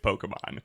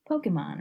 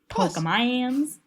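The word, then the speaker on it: Pokémon: enough to be like Pokemon or Pokemon. Yeah, like if you say Pokemans, there's no way you think earnestly that it's pronounced Pokemans.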